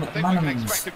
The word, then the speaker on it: McManaman: That was like Callum McManaman's tackle.